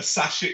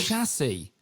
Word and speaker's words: chassis: No, a Sashi.